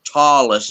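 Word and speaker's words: Ptolus: that's Tois with Tois with a silent P isn't it P yeah p t o l u s t i I saw you men is how it's yeah tallus is how it's pronounced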